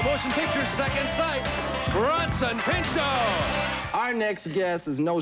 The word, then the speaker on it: Pinchot: I guess, I know how you spell it. Bronson's easy. What do you think the last part is? Pinchot.